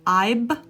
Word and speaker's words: I've: Make sure the V is pronounced and make sure you're producing the V sound, not the B sound. If your 2 lips are coming together, I've been practicing, I've been